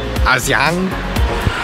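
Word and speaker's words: Hà Giang: Aujourd'hui, je me trouve dans la merveilleuse ville de Adjang. Les Vietnamiens, je crois qu'il prononcent Aziang. Le G est comme un Z.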